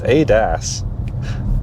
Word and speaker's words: ADAS: What is it? Is it or Adis? It's Adas.